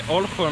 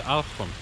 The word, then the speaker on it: Olkhon: Island, is called the Olkhon. Olkhon Island. Olkhon. Seems like when they have the O's, they pronounce it when the syllable is stressed, you have an A instead of an O.